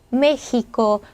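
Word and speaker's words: México: 멕시코가 스페어 발음을 어때요 얘가 어떻게 발음하면 맥시코 메시코 흐 발음이 돼요 자 아까 다가 흐 발음이 됐죠 바로이 발음이 됩니다 그래 스페인어로 멕시코는 멕시코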